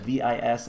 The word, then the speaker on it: Vis: something related to V, which is how you pronounce that, V-I-S. I believe it's just pronounced V or Vis. I think it's acceptable to say Vis, but I believe it's just referred to as V.